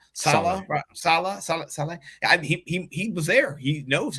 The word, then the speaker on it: Saleh: Salah.